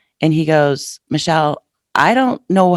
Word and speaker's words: Mechiel: My name is a little difficult. It's Mechiel, but it's spelled funny. And it's Mechiel. That's Mechiel, not Mechiel, not Michael. It's Mechiel.